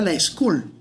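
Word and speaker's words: LSCool: costilla, que se llamara La School, y se escribe así, LS, cool, como de cool, pero suena como a la escuela, en inglés.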